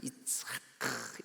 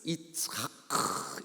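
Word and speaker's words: יצחק: 이츠하크. 이게 독일 말도 왜 바스 이스 다스 막 이러잖아요. 히브리 말이 이게 그 목을 긁는 소리를 많이 써요. 이츠하크 이렇게. 그래서 이 이삭의 원래 발음 히브리 말로 이츠하크라고 발음합니다.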